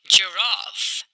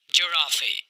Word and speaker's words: giraffe: Giraffe, giraffe. दोस्तों इस word को आप ऐसे नहीं बोलेंगे Giraffe. यह गलत तरीका है इस वर्ड को प्रोनाउंस करने का. तो आप कहेंगे Giraffe, ज़राफ़ा.